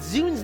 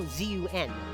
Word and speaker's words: ZUN: No, ZUN. The name of the creator of Touhou Project. No, I was not talking about the Microsoft Zune. No. It's pronounced the same way, of course.